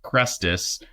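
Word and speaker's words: Chrestus: disturbances taken place in the name of it's pronounced cresus which is likely a purposefully misspelled word Christ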